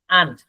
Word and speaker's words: aren't: আর শব্দের উচ্চারণই নাই, ব্রিটিশরা আর শব্দের উচ্চারণই করে না, তো আপনি বলবেন aren't সরে আ ন ট, aren't সরে আ নয় ট, aren't মানে আর এর উচ্চারণ আসবে না।